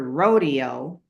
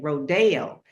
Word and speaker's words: Rodeo: to be bougie, but that's just the correct way to say it, rodeo and not rodeo.